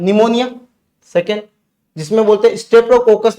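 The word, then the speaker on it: pneumonia: निमोना से याद रखना निमोनिया ठीक है ये पी जो होता है पी साइलेंट है निमोनिया स्टेप्टो कोकस निमो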